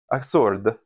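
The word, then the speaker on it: açorda: The other soup I was thinking of making is Acorda, or no, let me get that Portuguese pronunciation perfect. Acorda is a type of Portuguese bread soup.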